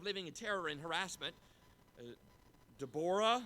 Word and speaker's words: Deborah: in terror in harassment Tabora that's how I pronounce that I know not what you're used to has an 0 there it's not Deborah it's an Eau de